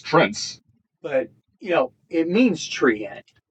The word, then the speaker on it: Treant: Well, it's Trent. It's Trents. But, it means treant. You see, I've only ever pronounced it as treant. Well, you can, but there's only one E in it. Yeah. So it's Trent.